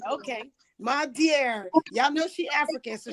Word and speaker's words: Madiare: My dear.